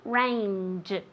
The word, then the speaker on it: range: Remember that j at the end, okay? Mountain range. J, with moving your vocal cords.